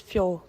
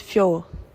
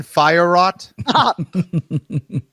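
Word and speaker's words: Fiorot: Let's get My name is Fior. My name is Fior. It's not Firerot. Cody, hit that file once more if you would. My name is Fior.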